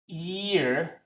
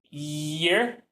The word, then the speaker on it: ear: But basically, when I hear a Chinese speaker say the word ear, sometimes they say it like ear. Okay? So, there's a difference between year Year and ear. There's no Y and the ear sound.